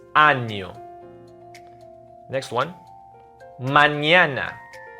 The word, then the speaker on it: mañana: Mañana. Not manana. With the squiggly line on top of the N, that will be mañana.